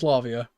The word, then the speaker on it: Lavia: Here comes Lavia. That's how it's pronounced.